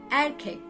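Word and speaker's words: erkek: you an example the word for boy is air kick and kick no it's not a cake and cake see it's written exactly as I pronounced it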